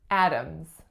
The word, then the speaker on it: Adams: what about that D does it make a D sound when I say Adams Adams mm-hmm it's actually a